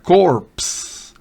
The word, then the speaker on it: corpse: Pero acá se pronuncia corpse. Corpse.